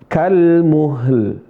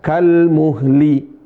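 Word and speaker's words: كَالْمُهْل: Kal muhl. Lamnya sukun. Kal muhl. Bukan kal muhli.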